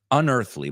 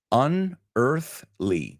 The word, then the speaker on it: unearthly: When you imagine the word earth, I want you to imagine it without the A.